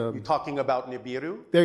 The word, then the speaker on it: Nibiru: Um, also I'm probably not going to pronounce it right, but um, Nebu, Nebulu, it's a you're talking about Nibiru.